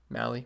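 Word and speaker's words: Mahle: that i don't like that at all tyler me tyler molly blitz how you say his name mally molly i believe it's molly uh ponce de leon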